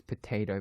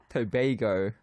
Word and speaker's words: Tobago: You're widely known as Potato Boy in Caribbean. It's pronounced as Tobago, not potato.